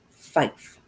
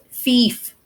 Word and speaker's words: fief: There were orphan children raised by the generosity of Baron Arald, the Lord of Redmont Fife. Fief. Fiefdom. Fief. I always say it wrong when I read it.